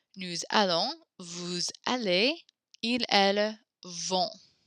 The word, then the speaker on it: allons: You hear the liaison there. We now pronounce the S at the end of these two words because the next word begins with a vowel. Nous allons, vous allez, ils, elles vont.